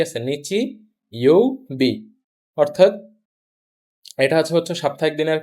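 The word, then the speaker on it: 日曜日: নিচু সঠিক বানান কোনটা প্রথম অপশন আছে নিচি ইওবি। নিচি ইওবি ই শেষ আবার একটা ই আছে ই তো কখনো থাকে না শেষ হয় জাস্ট বি নিচি ই বি এই কাঞজিটার নাম হচ্ছে নিচি আর এইটুকের নাম হচছে ইউ ইউ আর হচ্ছে বি তাহলে সঠিক বানান হবে কোনটা নিচি ইউবি আপনি যদি আগে থেকেই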